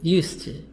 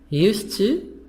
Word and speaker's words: used to: D is silent in used to.